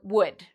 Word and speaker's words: would: So afterwards, you don't need to worry about this L. It's silent. So we say would, should, could.